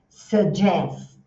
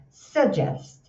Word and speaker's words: suggest: Se o objeto for um verbo, and suggest, né? Arquivo. E não é suggest, OK? É um s com chuá. Sugest e tem o suggest também.